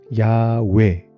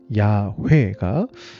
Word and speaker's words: 야훼: 아무튼 나중에 학자들이 재구성을 해보니까 발음은 원래 발음은 아마도 야외 아니면 야회가 가장 정확한 발음인 것 같다 이렇게 추측이 된 겁니다.